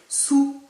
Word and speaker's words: sous: sous la tour eiffel sous on ne prononce pas le s final bien sûr pour terminer